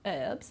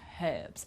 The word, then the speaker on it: herbs: i've put us because in american english they don't pronounce the h they say herbs but in british english there we will pronounce uh pronounce the h like herbs okay but i think